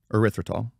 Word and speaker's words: erythritol: their they word it so well replacement called erythritol am I pronouncing that right yep okay perfect used to